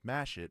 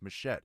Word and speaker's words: Machette: Because a lot of people say my name is Mashit, and it's not. It's Machette. It's Machete without the E.